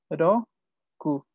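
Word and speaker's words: 六: Roku. Roku. Recuerden que es R. Ellos no pueden pronunciar la R.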